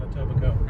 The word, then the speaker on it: Etobicoke: Until we get to about Etobicoke. Etobicoke, yeah. Silent K on Etobicoke.